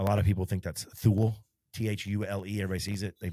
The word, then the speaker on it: Thule: And then Yakima and Thule. A lot of people think that's Thule, T-H-U-L-E. Everybody sees it. They make a lot of stuff. There's some European company. I think it's pronounced Thule.